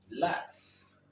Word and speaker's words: las: Comme vous pouvez prendre compte, le S final se prononce toujours en espagnol. Los, las.